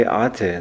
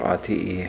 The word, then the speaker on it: Ate: It's, by the way, Ate, not ATE or RTE. At least this is how the company's employees pronounce it.